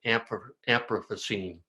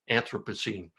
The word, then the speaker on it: Anthropocene: a new geological era, the era of the Anthropocene. I didn't pronounce that right, Anthropocene, which is the era of us, or the epoch of us.